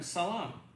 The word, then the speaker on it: salam: with my jewish friends i always say to them shalom but when i'm with my palestinian christian friends they say i say to them salam same thing but one pronounces the sh and the other one does this well let's think about